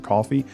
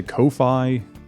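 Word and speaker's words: Ko-fi: to look at it the only person i've heard not pronounce it coffee i've heard a couple people say kofi but coffee is what i called it and then i heard a couple people call it kofi and i thought that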